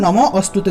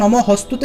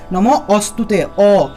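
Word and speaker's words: নমোঽস্তুতে: তাই এই ক্ষেত্রে আমরা নম অস্তুতে উচ্চারণ করব। যে জায়গাতেই নম হস্তুতে লেখা পাবেন সেটা নম হস্তুতে উচ্চারণ না করে নম অস্তুতে, অস্তুতে হিসেবে উচ্চারণ করবেন।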